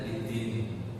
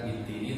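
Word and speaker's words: بالدين: dibaca adanya sukun tiba-tiba cara bacanya idin bukan idini tapi di mad disukunkan menjadi idin seperti itu.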